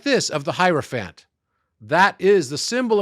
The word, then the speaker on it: hierophant: musical Keys okay so the hierophant rhymes with another word that's an animal elephant elephant there we go okay